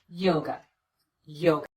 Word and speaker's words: yoga: or the uh sound same thing happens with the word yoga the second syllable is unstressed we replace the letter A with the unstressed vowel the uh sound and we get away from that syllable as quickly as we can Yoga Yoga hello my